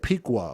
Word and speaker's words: Piqua: Now, according, he said Piqua. Okay, thank you. Okay, thank you. Thank you for helping me pronounce that properly.